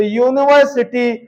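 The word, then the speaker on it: university: का प्रयोग करेंगे तो यूनिवर्सिटी या आ रहा है यूनिवर्सिटी के उच्चारण में या आ रहा है या जो है एक न है कंसोनेंट है इसलिए जो है हम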